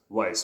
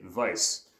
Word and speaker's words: weiß: just think it's pronounced Weiss because it's with a W, but you wouldn't know that the W actually makes the V sound in German. So that's why we say Weiss.